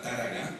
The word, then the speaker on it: Targa: Targa, antiguamente se pronunciaba Táraga, que es un caserío en Alajeró, y Tágara, que es un barranco en el municipio de Guía de Isora.